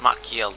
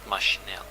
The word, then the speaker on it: Maciel: You pronounce Maciel, not Machinel. Maciel.